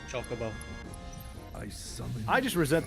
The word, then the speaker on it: Chocobo: Oh, they didn't have uh was it pronunciations when the game was released? Oh, no. Can't believe you guys. Chocobo. It's Chocobo.